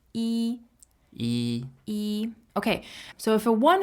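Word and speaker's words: 一: um but generally speaking when you're referring to the number one as a number you would pronounce in the first tone so follow along with me e e e okay so if a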